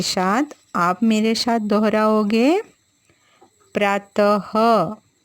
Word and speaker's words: प्रातः: आप मेरे साथ दोहराओगे प्रातः जब हम यह की मात्रा लगाते हैं बच्चों तो उसका उच्चारण ह की तरह होता है प्रातः 6 नमः स्वतह